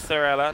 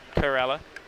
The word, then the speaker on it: Thorella: Thank you for telling me that it's Thorella, not Corella.